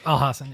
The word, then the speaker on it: Al Hassan: Razak Al Hassan. Is that how you say his name? Yes, Al Hassan.